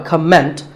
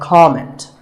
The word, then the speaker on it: comment: Now, whether you use this word as a noun or as a verb, the first syllable is always com. So it's never a comment, it's a comment.